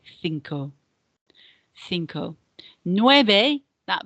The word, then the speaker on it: nueve: Nueve, that V here is not a V in Spanish, not a V sound, it's more of a B sound. It's a subtle B sound, and it's nueve, nueve. It's not a V as in how we pronounce V in English, okay? Nueve, nueve.